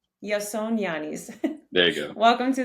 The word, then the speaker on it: Ioannis: to ask him two times how do you pronounce his name so Janson yanis yeah yason yanis yon yanis there you go welcome to the show thank